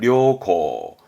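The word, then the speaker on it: 良好: 양호하다, 양호, 발음은 료고, 료고, 뭔가 양호한, 다음 우량이죠.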